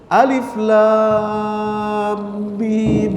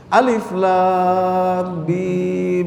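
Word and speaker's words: الم: Alif lam mim gitu. Bacanya mesti begitu. Kenapa? Karena alifnya panjang. Ya kalau Bapak buka di Al-Qur'an, lamnya itu ada benderanya gitu ya, ada panjangnya. Alif lam mim gitu ya.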